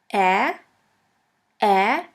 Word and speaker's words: Ä: We call it Ä, or A Umlaut. A Umlaut. A Umlaut is pronounced like the E in the word melon or in the A of the word H. The second umlaut is Ö, Ö, or O umlaut.